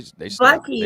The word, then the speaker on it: Buc-ee's: Bucky's. They Buc-ee's.